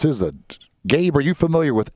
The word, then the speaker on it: SZA: I believe that's pronounced SZA. Gabe, are you familiar with SZA? Yeah, SZA. Is it SZA? Yes, okay. that is SZA.